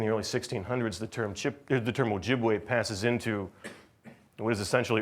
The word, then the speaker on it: Ojibwe: widely used term, but the term Chippewa is a mispronunciation of Ojibwe, is an error of history. Right? The people of the Ojibwe have always considered the appropriate name of their group to be Ojibwe.